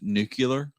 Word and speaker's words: nuclear: Uh, I think you pronounced that incorrectly. It's nuclear. That's what we say around here. Nuclear. Nucle. Nuclear. You got to add the extra u between the L and the see nuclear.